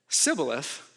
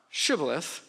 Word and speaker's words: shibboleth: If he said sibboleth, not shibboleth, sibboleth, because he could not pronounce the word correctly, they seized him and killed him at the fords of the Jordan.